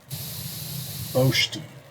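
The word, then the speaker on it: בֹּשְׁתִּי: Boshti. Yeah, I'm pretty sure the accent's on the first syllable here.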